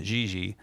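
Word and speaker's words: Dindi: This particular tune that we're going to play next is called, well, it reads Dindy, but to my knowledge, the Portuguese pronunciation is Gigi.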